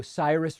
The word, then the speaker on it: Cyrus: palmer says sir oh cyrus rhymes with virus fyi okay sometimes that name is ceruse and sometimes it's cyrus apologies cyrus kenny redmond says my